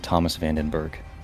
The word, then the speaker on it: Thomas van den Berg: Thomas Vandenberg.